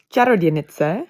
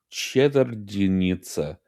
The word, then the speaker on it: Čarodějnice: It's pronounced Čarodějnice. Čar- Čarodějnice. Čarodějnice. The key is cheddar in the beginning. Think cheese, Wayne.